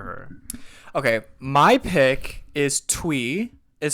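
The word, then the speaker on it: Thuy: a lot for her okay my pick is twe is spelled t hu y she is I think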